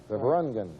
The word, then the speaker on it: Beverungen: Now he just tells me that what the emphasis is on the un. Right. Beverungen.